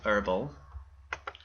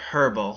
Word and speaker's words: herbal: Like for example, if I want to do herbal or erbal since these are early English books and they pronounce the h and run that search